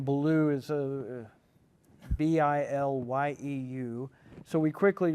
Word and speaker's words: Bilyeu: Well, partly by necessity, because her last name is Wolf, but it's spelled with 2 O's, and my name Bilyeu is Bilyeu.